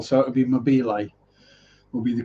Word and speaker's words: Mobile: And Mobile, Alabama. Actually, Alabama, that would be French as well, so it would be Mobile, will be the correct pronunciation of that, not mobile.